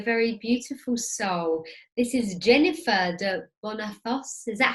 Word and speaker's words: Jennifer de Bonnafos: This is Jennifer de Bonnafos. Is that how you pronounce it? Yeah. Jennifer de Bonnafos.